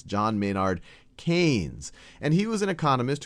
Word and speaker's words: Keynes: picture of John mayard kees and I often mispronounce him as kees because that's how it's spelled but it's John mayard KES and he was an economist who did a